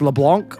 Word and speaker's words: Leblanc: it's like a similar situation right it's actually pronounced LeBlanc okay gotcha so basically what I'm getting out